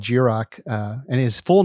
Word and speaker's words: Jiroc: kind of hit hard i was like jirok jirak of course some people see it and they go jai rock jai rock and then i burn